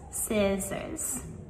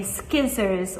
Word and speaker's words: scissors: But with both of these, scissors and scene, we never ever pronounce the C. So we do not say skizzers or skeen.